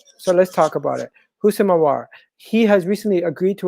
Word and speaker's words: Houssem Aouar: I'm going to start with HOUSSEM AOUAR. And if you guys don't know how to pronounce his name, if you don't know how